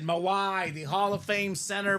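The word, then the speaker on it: Mawae: butcher his name Maui how do you say Maui Kevin maw maw that's it mawaii the Hall of Fame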